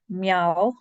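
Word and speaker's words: meall: So Stook, meow, not meal, meow.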